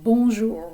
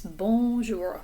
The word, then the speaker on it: bonjour: but for now it's bonjour remember that the o n sounds like a vowel sound coming through your nose almost like you have a cold bonjour and that j is just like juliette bonjour je m'appelle je